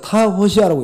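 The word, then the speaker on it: τὰ ὅσια: 타호시아라고 읽습니다. 이걸 갖다가 타호시아.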